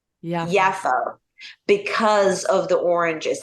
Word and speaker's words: Jaffa: in Palestine but it it's pronounced yafa Jaffa like the J is a y so yaffa is uh